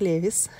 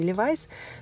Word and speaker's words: Levi's: понравились и оливой скате в италии они произносятся как levi's я знаю в россии ливайс произносите как хотите но вот такие мужские